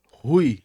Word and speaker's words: Ru: A Rui. É isso mesmo? A Exatamente. pronúncia tá certa? Rui? Tá certo. É Ru, mas pode ser Rui. Todo mundo fala Rui.